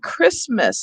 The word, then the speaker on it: Christmas: comes from the anglo-saxons is the greek sound and it's in words like christmas and chaos so if your students